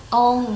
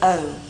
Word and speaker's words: own: On my own. Own không đọc là on nha. Không đọc là on nha. Không có on nha.